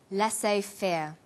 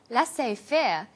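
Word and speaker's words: laissez-faire: He uses the phrase lass fair. Lassay fair is a borrowing from French. It closely reflects the pronunciation of the original language and the original spelling.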